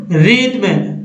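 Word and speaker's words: rhythm: तो दोस्तों इसमें RH में जो है R के बाद H का उच्चारण नहीं करना है, क्या पढ़ना है, R को पढ़ना है, उसके बाद पढ़ना है, यानी राइम, रिद्म, रेटोरिक या रैप्सोडी।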